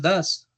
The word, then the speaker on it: does: a los gomelos les das. A ellos a los que les das más. Listo, se escribe does, así como se los escribe en el chat, pero se pronuncia das.